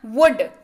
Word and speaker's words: would: वुड का जब भी आप उच्चारण करें, एल को बोलिए, चुप बैठो भाई थोड़ी देर, है ना। वुड, WOULD, लेकिन उच्चारण होता है वुड, अर्थ होता है गा, गे, गी।